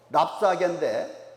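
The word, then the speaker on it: 랍사게: 그래서 이 사내립의 신하, 그 신보, 랍사개인데, 그냥 랍사 좀 띄었다가 개라고 읽는 게 더 좋을 것 같습니다.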